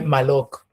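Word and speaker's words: מולך: Que es el rito de Moloch, eh, que en hebreo realmente no es, se escribe Malok, ¿no?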